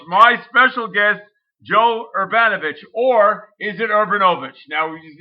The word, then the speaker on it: Urbanovich: Okay, so the correct pronunciation is Urbanovich. Urbanovich.